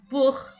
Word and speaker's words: Buch: Un autre exemple, Buch, livre, book.